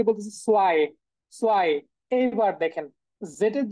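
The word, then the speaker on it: zwei: মানে দেখেন এখানে জয় হওয়ার কথা না, রুলস অনুযায়ী আগের ওই ইংলিশের সাথে ম্যাচ করে, কিন্তু এখানে জয় হবে না, এটা সোয়াই হবে।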